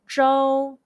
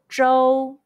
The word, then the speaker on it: Zhou: Zh, O, Zhou. Zhou, Zhou, Zhou. Zhou is state in Chinese. Question. When you see OU in Pinyin, how would you pronounce it? The answer is O.